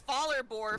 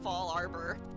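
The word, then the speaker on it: Fallarbor: ] all the time i thought it was faller bore for a long time in pokemon before i realized it's actually it should probably be fall arbor so at least at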